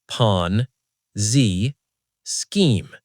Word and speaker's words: Ponzi scheme: Say it with me. 3 syllables. Ponzi scheme.